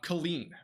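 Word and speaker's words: Killeen: came out of it so Colleen is it Colleen a spotter confirmed a wall cloud near uh Colleen that's how you say it and this is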